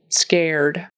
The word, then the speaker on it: scared: scared aired scared and don't forget the D on the end we' got to have that D scared past tense and the